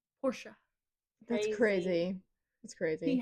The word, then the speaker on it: Porsche: knows how much else, because they pronounce it Porsche, That's crazy. not Porsche. Porsche.